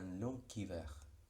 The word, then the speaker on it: long hiver: Bien, la G se pronuncia como K, no hay muchas palabras terminadas en G. Un long hiver.